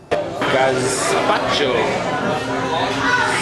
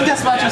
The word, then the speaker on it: gazpacho: Gazpacho. Spacho. Isn't gazpacho spelled with an S?